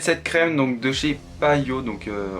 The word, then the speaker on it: Payot: crème donc de chez payot donc on prononce pas le thé apparemment donc de chez payot parisse donc c'est une